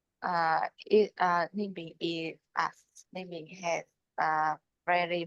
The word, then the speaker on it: Ninh Bình: Ninh Bien? Ninh Bình is Ninh Bình has very mountain and river.